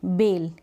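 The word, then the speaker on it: bale: जैसे कि B-A-L-E, बेल, क्या पढ़ेंगे इसको, बेल पढ़ेंगे।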